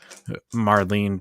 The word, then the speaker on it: Marlene: I think I mispronounced her name. Is it Marlene? I said Maureen, I think. Yeah. Yeah, okay, Marlene.